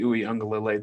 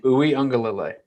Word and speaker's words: Uiagalelei: And frankly, I have more confidence in DJ Uiagalelei than JT Daniels.